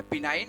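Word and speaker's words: benign: और क्या होती है यहाँ पर बिनाइन होती है, इसको जी साइलेंट रहता है, तो बिनाइन, और उसके बाद क्या, मैलिग्नेंट होती है।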